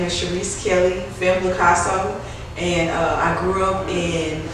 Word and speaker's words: Femmeblaicasso: With that being said, I have a good friend of mine, Miss How you pronounce that? Femmeblaicasso.